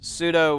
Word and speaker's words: pseudo: But uh no, it's pseudo with a with a P. The P is silent.